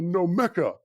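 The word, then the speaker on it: Gnomeka: been trying to build a nomeka you know with the silent g to get myself out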